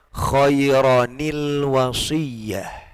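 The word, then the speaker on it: خَيْرًا الْوَصِيَّةُ: Khairan al-wasiyah. Ya. Kalau ini dipisah, bacanya khairan al-wasiyah. Ya, dibaca al-wasiyah kalau dia berdiri sendiri menjadi permulaan. Tapi ketika disambung, maka bacanya khairanil wasiyah.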